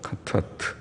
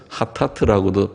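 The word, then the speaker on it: חטאת: 속죄는 그냥 죄라는 카타트라는 말일 것이고, 카타트. 예. 속죄제는 카타트라는 말이고, 카타트, 카가 거친 수미에서 하타트라고도 표현하고 하보다는 카에 가까워서 카타트라고 발음을 하고, 속건제라고 하는 것은 아샴이라는 다른 단어입니다.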